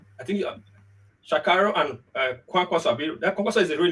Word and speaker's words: Kwankwaso: I think Shakarau and Kwankwaso. That Kwankwaso is the real name, right? I pronounce it well, right?